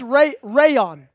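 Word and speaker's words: Rayuan: It's pronounced Rayon.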